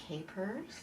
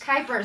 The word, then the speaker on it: Kuypers: See, I said it wrong. Rhymes with hypers, I tried and I said it right earlier, because I pulled out my phone, and she wrote down EYE. For Kai. Kai.